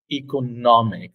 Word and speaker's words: economic: And again, the stress in both is in the part nomic, economic. That's why you say it this way: economic, economical.